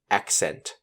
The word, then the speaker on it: accent: Just like the last word, the first C makes the hard C sound, k, and the second C makes the soft C sound, s. So you have AC making ac, followed by CENT making the cent sound. So ACCENT spells accent.